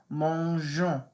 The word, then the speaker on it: mangeons: The G turns to a g. So the rule is you have to put an E. So listen to how I say this now. Mangeons.